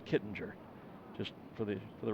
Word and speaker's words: Kittinger: those who call it kidding her and there are those who call it Kittinger and I've asked Joe and he pronounces it Kittinger just for the for